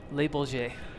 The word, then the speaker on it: Le Bourget: And Speedbird says the French airport is pronounced Les Bourget. Ah, That makes a lot of sense. I knew I had it wrong.